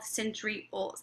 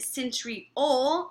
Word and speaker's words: centriole: So I always remember that centriole rhymes with pole.